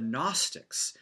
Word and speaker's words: Gnostic: his battle against the Gnostics. The G in the word Gnostic is silent, so it's kind of a strange word.